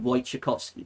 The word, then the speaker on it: Wojciechowski: Now, Jaime's real name was Henryk Wojciechowski. That was his real name. That's how you say it in Polish.